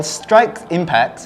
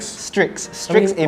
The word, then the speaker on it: Strix Impact: Well, Strike Impact, am I saying it right? Strix Impact.